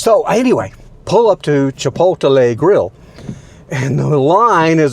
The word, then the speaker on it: Chipotle: what you call it my kids make fun of me for how i pronounce i say chipotle grill no it's chipotle anyway chipotle grill always